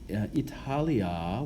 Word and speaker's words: Italia: Hopefully you can remember what we said earlier about in the prepositional phrase in Italia, Italia with a long A it's the object of the preposition, so it has what we call an ablative case ending.